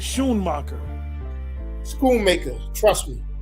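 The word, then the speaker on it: Schoonmaker: o's so s c you was really pronounce it sh marer School maker trust me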